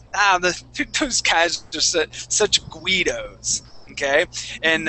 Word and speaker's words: Guido: We don't have hardly any others, but yeah, we don't pronounce that U.